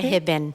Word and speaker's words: Hibben: name because it was a little hard to pronounce and remember I have an accent. Yeah, sure. It's Hibben. You see? Hibben.